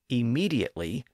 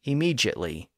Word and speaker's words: immediately: Most Americans say immediately by giving the letter D its D sound in that word. But in the UK, you're more likely to hear some people pronounce it as immediately by giving the D